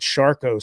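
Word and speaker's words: Charcot: So, I had gotten this affliction uh in my right leg below the knee in the foot and ankle uh called Shco syndrome. It's spelled C H A R C O T.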